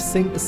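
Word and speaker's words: Sice: Es wird also Sync ausgesprochen, alles klar.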